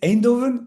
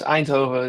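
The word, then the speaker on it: Eindhoven: Is it Endovven? No. Yes. Antoven is E I N D H O V A E N.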